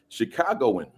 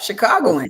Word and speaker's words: Chicagoan: A native Chicagoan. Is that Did I pronounce that correctly? Yep. Chicagoan.